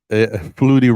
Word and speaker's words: Flutie: me see okay uh Flutie rhymes with fruity yeah although I did